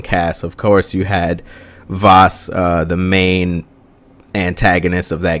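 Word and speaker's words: Vaas: is all vas vas I was saying his name wrong it's all vas in the first act and then you have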